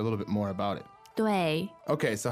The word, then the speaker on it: 对: So this 对 is fourth tone, and it means towards, right?